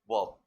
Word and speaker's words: verb: इसमें भी are silent होता है। वर्ब नहीं वर्ब। समझ रहे हैं ना?